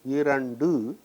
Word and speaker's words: இரண்டு: Now you have to remember the rule that a plosive assumes a soft sound after a nasal. That is why this ta becomes da. This is a nasal and so this is pronounced as du. I, ra, in, du, irandu, two.